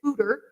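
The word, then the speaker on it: foeder: e d r but not pronounced foder it is footer and it is their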